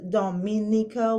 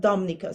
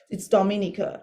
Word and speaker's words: Dominica: It is Dominica. We pronounce every letter. It's not Dominica. Some say Dominica, you know, it's Dominica.